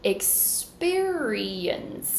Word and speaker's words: experience: un put everything together experience now second syllable is stressed experience then we have